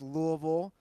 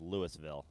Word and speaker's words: Louisville: I believe it's pronounced Louisville, but whatever. What's the technical pronunciation of it? I think it's Louisville. Louisville, right? People in Cincinnati call it Louisville, which is wrong. I believe that is incorrect.